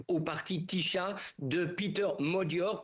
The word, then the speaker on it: Magyar: Ils donnent tous la victoire de l'opposition à Viktor Orban, en l'occurrence au parti Tiszta de Peter Magyar, puisqu'ici on prononce Magyar et non pas Magyar comme cela s'écrit.